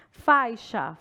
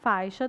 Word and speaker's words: faixa: Então, aqui, ó, faixa. Faixa tem o som de X mesmo.